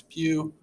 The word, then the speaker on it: Pugh: my name is mr pew and i will be walking you through this presentation so my full name is pugh which rhymes with through so i've been teaching